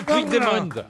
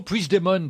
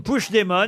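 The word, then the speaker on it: Puigdemont: pour moi lu plus c'est parce que vous prononcez pas bien c'est c'est le nouveau P demon pardon c'est le nouveau push demon push demon exactement c'est lui qui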